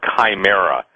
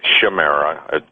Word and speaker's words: chimera: this, but the word chimera, some people pronounce it chimera, pronounced chimera, chimera.